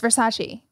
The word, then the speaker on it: Versace: And it's Versace.